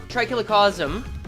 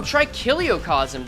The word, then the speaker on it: Trikiliocosm: Great Trikilocosm. Right? No, Trikiliocosm. I've been pronouncing it wrong this whole time.